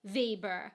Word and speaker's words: Weber: Like, I'm not saying that his pronunciation of Weber was necessarily wrong, because I haven't seen a commercial. Maybe here in Germany, the Weber grill is pronounced Weber, because that makes sense. That's how you would say Weber.